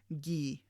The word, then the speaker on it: gii: e g so therefore g i i is pronounced like the english word geek without that k sound so ghee so that's how we